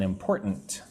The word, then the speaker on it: important: Right now they are studying for an important. Let's look at the word important. So, three syllables, right? Important. But when I say it, it's more like important. The T is soft. The first T.